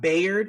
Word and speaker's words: Bayard: is about it's about Bayard is it Bayard is that how you would pronounce it I kept saying be but they were saying by by rtin yes it's about byed Rustin who was an